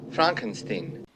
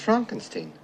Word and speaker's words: Frankenstein: not igor am i yeah dr frankenstein frankenstein you're putting me on no it's pronounced frankenstein do you also say frodrick no frederick well